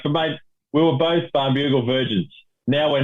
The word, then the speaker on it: Barnbougle: It's Barnbougle Dunes, or that's how I pronounce it. Apparently, it's Barnbougle Dunes, which I find a little bit difficult to say. So I'm going to stick with Barnbougle.